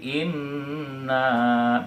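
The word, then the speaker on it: إِنَّ: Itu karena bertasydid dia ditekan dan dibaca dengan berdengung ya. Seperti kita baca yang surat pertama tadi, inna berdengung ya.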